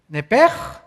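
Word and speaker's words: נפש: es la palabra hebrea nepes así como suena n e p e s h nepes la palabra la letra o las letras sh en el hebreo se pronuncian en hebreo como J Entonces se pronuncia nepe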